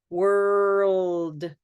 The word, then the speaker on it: world: we have to stay purple world world and this part that I'm touching is literally the roof of your mouth right here this is your tongue and needs to touch and it's sort of pressing kind of flat okay World okay um